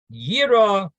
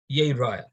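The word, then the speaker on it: יראה: Shenemar, as it says, Yira Yeraya. That it says Yira, and we read it Yeraya.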